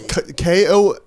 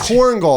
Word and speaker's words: Korengal: changed it, now that oh, you've- Korengal, that's what it's pronounced. Well, I Korengal mean, Valley. bro, now you've changed it completely. It's Yeah. like Connecticut and Kentucky. Yeah. You have no. Korengal, You can't Kongal, just switch up Korengal.